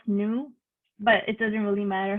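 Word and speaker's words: GNU: actually really mean dnu Linux and GN is pronounced new but it doesn't really matter how you pronounce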